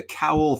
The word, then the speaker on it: Cowl: Yeah, it's 1:00 at it's on Pier 2, the Cowl Theater. Rhymes with owl.